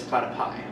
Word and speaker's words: platypi: to everybody including platypuses it's platapi oh okay we we apologize for everybody who is offended by us mispronouncing the correct plural of platypus uh apparently it is platypi yes so we apologize